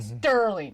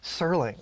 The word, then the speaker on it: Serling: it with man Roger Sterling I put a tee in his name its Serling I don't know why